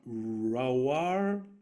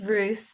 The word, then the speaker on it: Ruth: I know we have uh Philillip, Dom, Eleanor, and uh I see one Raw. Please forgive me if I've mispronounced your name. It's Ruth.